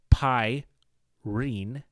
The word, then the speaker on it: Pyne: roguelike Dungeon Crawler then Pyne pronounced pyin as I had just said could easily be known